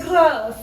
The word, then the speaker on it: Grasse: Oui, c'est Grasse. Grass. You guys. I don't even have it. Comment ça s'écrit?